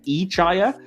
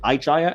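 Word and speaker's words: I-Chaya: to ihia apparently uh Fontana who wrote the episode insists that we're all pronouncing it wrong she actually wanted it to be pronounced ichaya but the voice actor that they hired to play Young Spock pronounced it igeya and the rest just kind of had to fall in line and copy it so oops getting a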